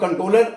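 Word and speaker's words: Comptroller: देखिए हम लिखते हैं कंट्रोलर general कंट्रोलर and auditor general of India है लेकिन जो कंट्रोलर है उसमें पी साइलेंट है उसको आप कंट्रोलर and auditor general of India ही पढ़ेंगे तो इसके इर्द-गिर्द ही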